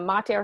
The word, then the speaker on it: mater: It's interesting that mater has a long A in it, but pater, actually, the A in pater is short.